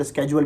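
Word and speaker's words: schedule: किसी तरह जाता है फॉर एग्जांपल एक लब्ज है जिसको हम लिखते हैं एस सी ह आई दी यू एल आई इसको वैसे तो पढ़ना चाहिए मिनिमम लिखते हैं इस तरह इंग्लिश में इसको शेड्यूल भी पढ़ते हैं और शेड्यूल भी पढ़ते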